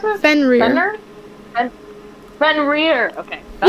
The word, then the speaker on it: Fenrir: How do you pronounce it? Fenrir.